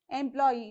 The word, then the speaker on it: employee: is e for example employee right employee now you have to check how many syllables you have you have m law e three syllables then according to the rule you have to place the stress mark on the last syllable and that's why it